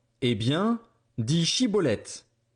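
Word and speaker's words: Schibboleth: Il lui disait alors « Eh bien, dis Chiboleth ». Et il disait Ciboleth, car il ne pouvait pas bien prononcer.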